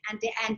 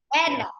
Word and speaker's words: Andai: Is it Andia? Did I say it wrong? Anda.